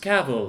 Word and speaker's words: Cavill: shall call him henry cavill pronounce pronounced cabell like travel because that's how you pronounce it travel cable as soon as